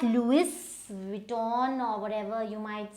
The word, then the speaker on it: Louis Vuitton: So now this is not Louis Vuitton or whatever you might say, it is Louis. So Louis and Vuitton. Now this U and I, they should come together.